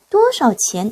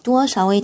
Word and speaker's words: 多少: 많고 적다란 뜻으로 쓰일 때는 이 샤오를 삼성으로 발음을 해줘요. 그런데 얼마나 라는 의문사로 쓰일 때는 성조가 사라집니다. 경성으로 발음을 해요.